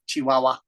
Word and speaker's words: Chihuahua: you say chiah in in Spanish it's just waah waah like that waha Chihuahua it's a cute name Chihuahua